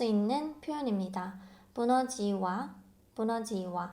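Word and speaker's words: Bună ziua: 부너지와, 부너지와. 여기 보시면 알파벳 E하고 U가 있죠? 이 U 빨리 발음하면 U처럼 발음이 돼요. 그래서 부너지와 이렇게 하실 필요 없고 부너지와, 부너지와 라고 말씀하시면 됩니다.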